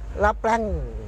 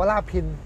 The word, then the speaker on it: Lapin: นะ ฮะ สำหรับ Suzuki ล แปง เมื่อ กี้ ผม อ่าน ว่า ลาพิน เหมือน ชื่อ คน ไทย เลย มา ดู กัน ได้